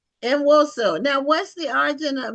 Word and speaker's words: Nwosu: Enoso. Now, what's the origin of Enoso? Is it Nigerian? I think my father-in-law would pronounce it.